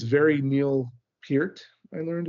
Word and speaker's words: Neil Peart: It's very Neil Peart, I learned it's pronounced.